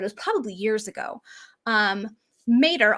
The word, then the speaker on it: Mater: Mater, although it's the wrong pronunciation of it, is the Latin word for mother. And you often hear it pronounced when it's used in Britain, pronounced as Mater.